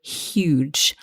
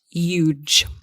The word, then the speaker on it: huge: huge statue exactly huge the thing to watch out for here is that we must pronounce that H so huge not huge okay you may hear